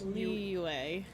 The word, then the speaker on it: Liyue: In yeah, so it'd be like it's Liyue. It's Y-U-E.